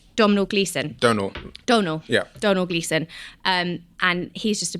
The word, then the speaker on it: Domhnall Gleeson: is played by I don't know how to pronounce his name actually Don domal gleon Donal Donal yeah Donal gleon um and he's just a brilliant character and